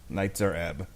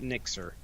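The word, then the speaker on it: Nitzer Ebb: Nightzer Ebb. Nightzer Ebb, not Nixer.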